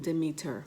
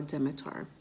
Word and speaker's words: Demeter: highlights Persephone is the maiden the daughter of Demeter or Dimitar some people pronounce it differently and she was abducted by